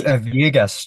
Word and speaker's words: Villegas: It's Villegas. So Villegas, the double L Villegas. and Okay. they end up sounding like a Y.